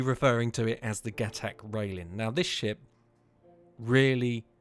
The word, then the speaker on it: Gatac: The Gatac Railen, if that's how you say it.